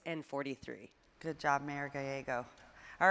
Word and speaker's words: Gallego: I've heard your name pronounced. It's Gallego.